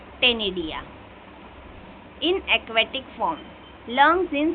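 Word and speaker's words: ctenidia: सी silent है यहां पे टेनिडिया।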